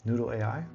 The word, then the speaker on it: Noudle: That's Noudle, just like it's spelled over here.